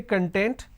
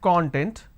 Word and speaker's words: content: So we have the word content. I break it into two syllables. When I pronounce this as content, it means ingredient or index. When I pronounce this as that means happiness or being self-satisfied.